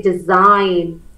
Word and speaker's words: design: always e let's say I say design d s in has got a silent G sign yeah how about